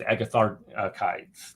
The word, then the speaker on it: Agatharchides: that I have is agathar kites they get cut the CH is a k sound CH is the case